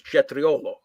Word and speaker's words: cetriolo: The actual pronunciation of the real word is cetriolo.